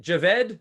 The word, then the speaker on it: Javed: And is it Javed? Is that the correct pronunciation? Yeah, that's right.